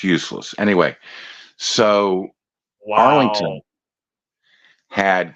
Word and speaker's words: Euless: it's not pronounced Euless, it's pronounced useless.